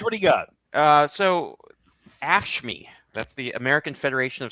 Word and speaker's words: AFSCME: No, but it's pronounced AFSCME, George.